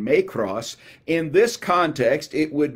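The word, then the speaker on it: μικρός: little translates the greek word my cross or it's actually may cross is is the better pronunciation may cross in this context it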